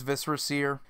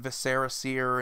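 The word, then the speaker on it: Viscera Seer: the word viscera before but it is viscera sear and does kind of make sense he's a vampire so it would have something to do with guts and blood something like that but I've seen a lot of people gameplay and deck Tech's they call it Viserys ear and though just kind of cringe-worthy there but it's good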